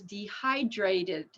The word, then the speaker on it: dehydrated: the Ed word is dehydrated see it ends in a t dehydrate incident T so we need an extra syllable dehydrated dehydrated dehydrated it's